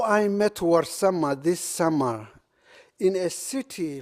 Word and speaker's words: Warsame: So I created the young Warsama, who is suffering in his class. Warsama is spelled out as W-A-R, not war, but war, and S-A-M-E, not same.